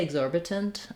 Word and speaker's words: exorbitant: And I also rewrote the T as a D. Typically in American speech, when a T is followed by an unstressed syllable, we will change it to a flap, so it sounds a little more like a D, ident instead of itent. You can say exorbitant, and people do in some cases, but most typically in that case, they would use the flap.